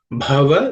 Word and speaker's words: bhava: The first letter bha is the fourth letter in the pa varga or per class of consonants. It has to be aspirated. So it should be bha with a little extra air.